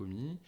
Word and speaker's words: Omie: C'est pour ça que nous, on a construit notre marque OMI sur ce socle de transparence radicale. Alors, génial, super transition, on va venir sur Omi tout de suite.